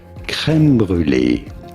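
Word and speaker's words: crème brûlée: Delicious cream, custard, creme brulee is how we say it in France. Creme brulee in English.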